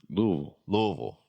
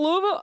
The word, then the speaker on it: Louisville: Louisville. Is that She just says people from there? She says It's Louisville.